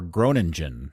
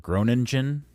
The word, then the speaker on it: Groningen: He'll be playing in the Dutch Eredivisie for Groningen. Am I pronouncing that correct, Dan? Groningen? Groningen, I think.